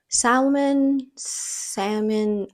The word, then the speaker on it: salmon: I pronounce it differently each time because in Spanish it's salmon and that's how I want to pronounce it. But in English, I feel some people they say salmon and it's like, why aren't you pronouncing the L's?